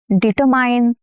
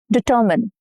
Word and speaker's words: determine: Determine? No, incorrect. Determine. Determine.